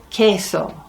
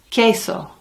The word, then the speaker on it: queso: queso queso is cheese never ever pronounce the Q in Spanish as a it's a qu it is in English sometimes but in English sometimes it's also a c like antique or keyside well it's always a c in espanol it's nice that Spanish